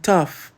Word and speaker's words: tough: Though e tough são visualmente quase idênticas, mas soam como se viessem de planetas diferentes. Thembora o GH é 100% mudo e o som é um O limpo and tough difícil, o GH virou F e o O virou